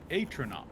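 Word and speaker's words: Atronach: as you unpause your game oh man uh atono is how it's pronounced oh cool oh boy I'm going to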